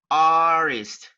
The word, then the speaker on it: artist: I'm an artist, artist, artist. Letter T is not pronounced.